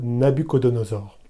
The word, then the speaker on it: Nabuchodonosor: du roi babylonien célèbre nabuchodonosor le nom ainsi prononcé est plutôt inspiré de la traduction grecque de l'ancien testament les traductions qui veulent